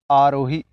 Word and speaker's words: आरोही: अब ए से चालू हो रहा है ऐसा मत समझिए, उसका प्रोनाउंसिएशन हो रहा है आर से, आरोही, आरोही, या इसको आप ऐसा बोल सकते हैं, आर को आप बोलिए, प्रोनाउंसिएट करिए आरोही, तो आरोही ऐसा।